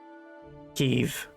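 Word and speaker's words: Kyiv: So, the city is said like Keev, but the food is still Kiev.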